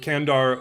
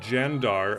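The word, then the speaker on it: Candar: uh the Bic of kandar which I believe is pronounced bik of jandar uh one of my viewers pointed that out uh C's are pronounced as J's in Turkish so thank you very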